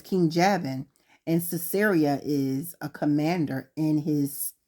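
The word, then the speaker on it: Sisera: in the Book of Judges there's a word ceria and it's spelled s I'm looking at my Bible here it's s i s e r a and ceria is the um Commander he was a he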